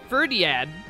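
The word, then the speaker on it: Fhirdiad: ferdi for did that ferdiad ferdiad that's how you say it i think ferdiad is the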